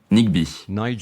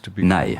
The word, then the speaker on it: Nighy: Les gens m'appellent Nighy, Nighy, Nigby, Nighy. À l'école, on m'appelait Nidge. Mais mon père voulait qu'on nous appelle Nighy, ce qui rime avec sigh, le soupir.